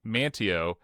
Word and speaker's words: Manteo: another one that said, what happened to the T in Manteo? It went to Wilson. So Wilson has got a T in it. Yeah. Not when you spell it, but Wilson is that's a big one. Yeah. That's a big one. You have the silent T.